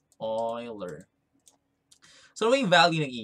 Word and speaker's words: Euler: called euler's number so this is pronounced as euler like this one oiler so we value the